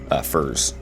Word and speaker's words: furze: And then the dwarf furze thing, that flower, that is called furze. That's proper pronunciation right there.